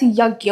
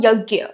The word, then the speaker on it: yajna: So, Vedic culture developed various rituals called yajna, which is often pronounced as yagya. Okay, you must have heard this term yagya.